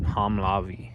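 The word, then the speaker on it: Homolovi: But this is, the lady in the visitor center was pronouncing it Homolavi, so, but it's spelled like that.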